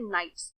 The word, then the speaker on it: knights: इसकी स्पेलिंग होती है KNIGHTS। इसमें K साइलेंट होता है, इसलिए इसका प्रोनाउंसिएशन होता है नाइट्स।